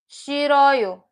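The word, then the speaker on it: 싫어요: This S now doesn't have s, it has a sh sound. So this two up is pronounced she, she.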